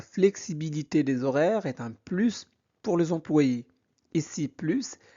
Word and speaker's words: plus: Alors on prononce le S parce que plus est utilisé comme signe d'addition.